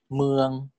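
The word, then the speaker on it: เมือง: This is pronounced as meung. Meung means city, okay?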